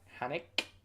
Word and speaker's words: Haneke: Haneke. I'm pronouncing the E at the end as well.